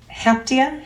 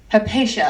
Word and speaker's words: Hypatia: This is actually from Heptia Hasbrook. Did I say her name right? Hypatia. I knew I was saying it really wrong.